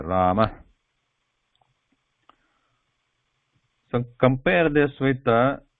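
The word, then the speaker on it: रामः: So the pronunciation becomes Rama, Rama, very light breath there, Rama.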